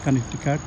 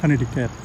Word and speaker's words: Connecticut: নিউ ইয়র্কের পার্শ্ববর্তী রাজ্য কানেকটিকাট। আমরা বাঙালিরা শহরটিকে কানেকটিকাট বলি এবং ইংরেজিতে যেভাবে লেখা হয় ঠিক সেভাবে পড়লে শব্দটি হচ্ছে কানেকটিকাট। কিন্তু কানেকটিকাট বললে আমেরিকানরা সহজে বুঝতে পারে না, আমেরিকান উচ্চারণে বলতে হয় কানেকটিকাট।